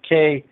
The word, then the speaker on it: chûwg: one will find that the Hebrew word is chûwg, C-H-U-W-G, or it's pronounced K-H-O-O-G.